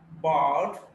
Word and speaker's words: bard: Bud, bard. See, this r is not pronounced here. Bard, but the length. This takes the space. The time is taken up by the vowel sound.